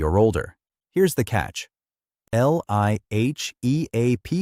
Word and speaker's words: LIHEAP: Everyone calls it LIHEAP, pronounced LIHEAP, and in fiscal year 2026, Congress funded it with approximately $4.05 billion.